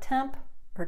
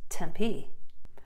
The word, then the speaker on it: Tempe: of ASU is located it's not temp per tenpai it's Tempe now if you've lived